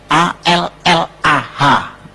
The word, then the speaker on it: Allah: Cuma dia membacanya, ngejanya beda sama kita. Kalau kita cukup Allah gitu. Kayak bercanda sama teman aja, Allah lu gitu aja tersinggung gitu ya. Kayak begitu, ringan gitu. Bacanya itu ringan. Tapi kalau mereka itu terpengaruh dengan bahasa Arab. Jadi nggak ringan, Allah.